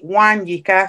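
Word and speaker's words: Nwanyika: english name so it's it's actually one yika so it's n w a n y i k a so the n is silent and then it's one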